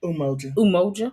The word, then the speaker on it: Umoja: Today is day 1 of Kwanzaa, which is known as Umoja. Am I saying it right? Umoja.